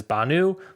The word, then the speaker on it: Bhanu: It is spelled Bhanu. Is Banu.